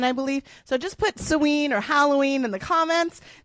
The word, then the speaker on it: Samhain: Drop suen. S O W N or S A. Actually, that's not how you spell it. It's I was spelling it the phonetic way.